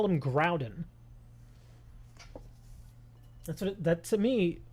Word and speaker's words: Groudon: Yeah, because look at it's it's it's basically spelled like ground. Like if you if you take the N from the end of the word and put it in front of the D, you now have ground.